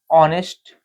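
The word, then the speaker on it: honest: शब्द है जैसे आवर ऑनेस्ट एयर ठीक बिगिन विद अब देखिए इनको हमने जब पढ़ा है तो यहां पर एच जो है वो इस प्रोनंसिएशन करते समय एच साइलेंट है ठीक है ओ से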